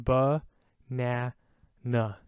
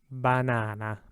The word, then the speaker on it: banana: simple so for example this word right here in english would say banana right that's two different sounds we're making with the a we're going ba na na in italian it's always a banana banana same with this word